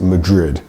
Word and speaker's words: Madrid: of Spain is Madrid in English we pronounce it Madrid d d d that du um is quite a difficult sound for Spanish speakers to pronounce today we've been talking